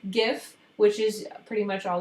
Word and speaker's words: GIF: djpg png which is um a long name gif which is pretty much all those moving pictures and it is pronounced gif and bmp which is a bitmap